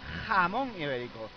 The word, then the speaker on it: Jamón Ibérico: And yeah, I'm pronouncing it right. Jamón Ibérico. You see, you don't You have to pronounce that jamón. It's how it's said.